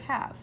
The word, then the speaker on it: have: word h and then there's a silent e you cannot hear this e it's silent but it is there you have to remember